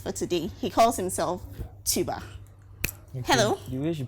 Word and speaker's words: Tubar: introduce our guest for today he calls himself tuba hello you wish you pronounced the name from light to bow yeah it's tuba come on oh okay say it like you